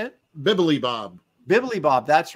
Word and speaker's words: Bibilibob: Bibilibob, that's right.